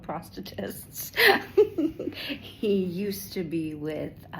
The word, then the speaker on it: prosthetist: My prosthetist, which that is how you say it. It sounds terrible, but they are called prosthetists.